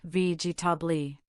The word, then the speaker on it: vegetable: For example, vegetable has 3 syllables, vegetable.